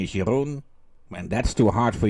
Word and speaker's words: Jeroen: Hallo, ich bin der Jeroen aus die Niederlande. Hello, boys and girls. My name is Jeroen. When that's too hard for you to pronounce, you may call me or Jerry.